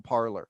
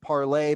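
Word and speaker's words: Parler: services did shut down parlor which by the way was actually meant to be pronounced parlay but americans pronounce things as they're spelled so we really couldn't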